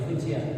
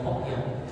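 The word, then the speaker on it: 福建: Jadi kalau di bahasa Mandarin dibacanya Fujian, kalau di logat Hokkien, Fujian itu dibaca Hokkien. Percaya nggak?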